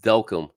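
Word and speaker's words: Delcambre: Delcom, yeah, that's pronounced Delcom, guys. If you don't know what that is, I grew up there, so I know Delcombre, Delcom, Louisiana, where all the shrimp boats are.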